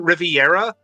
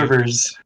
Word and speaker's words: Rivers: And joining us this week is Riviera of BancyCo. Am I pronouncing that right? You got the company name right. Hooray! Rivers.